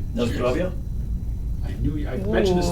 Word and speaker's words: Na zdrowie: Na zdrowie? I knew I mentioned this to Ooh. you before. Na zdrowie.